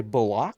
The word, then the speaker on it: Bullock: And you have to say Bullock. Because that's how you pronounce his name.